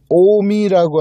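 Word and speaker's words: 近江: 일본에 가면 오미라고 하는 곳이 있어요.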